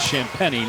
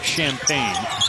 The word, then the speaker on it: Champagnie: It's about 14 seconds per possession is Champagnie, not Champagne. It's pronounced Champagnie.